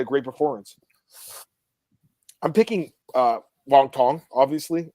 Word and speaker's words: Wang Tong: So we got Wang Tong taking on Bruna, Brazil, and I think that is the right pronunciation, right, Marcel? Wang Tong.